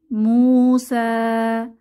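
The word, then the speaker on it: مُوسَىٰ: এরকম খালি ইয়া থাকে তখন এটাকে আমরা পড়বো না এই খালি ইয়া টাকে বলা হয় আলিফুল মাকসুরা তো এটা উচ্চারণে আসবে না আমরা এভাবে পড়বো মুসা এটা এভাবে আমরা মনে রাখতে পারি নো সাইন নো সাউন্ড তাহলে ইয়া টা উচ্চারণে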